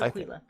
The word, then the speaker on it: Aquila: Is that really how it's pronounced? Aquila. No, it's Aquila.